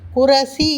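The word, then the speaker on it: कुर्सी: குர்சி. குரசி என்று சொல்வதில்லை, குர்சி என்று தான் சொல்கின்றோம்.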